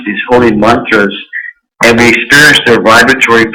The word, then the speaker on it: mantra: to say mantra or mantra, but M-A-N-T-R-A, pronounced mantra. And it's etymologically, it's mantra. Man is mind, tra is to carry across.